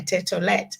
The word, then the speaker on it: Tett: called my name you mentioned my name or pronounce it properly tet people normally find it hard to say the